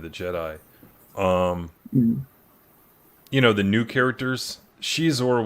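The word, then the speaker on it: Xizor: The new characters, Shizor was a little bit of that's how you guys pronounce it too, right? Yeah. Okay. Yeah. And I think that's how you're supposed to pronounce it. When I was reading it, and that's how they got said in the junior novel to pronounce it. Yeah, that's right. You're right. I think I went for years pronouncing it Zizor.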